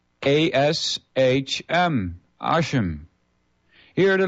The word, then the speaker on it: Hashem: Instead of pronouncing Yahweh's name, the Jews often refer to him as the name, spelled ASHM, Hashem.